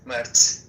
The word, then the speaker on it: Mert: my name's pronunciation is Mert. Mert.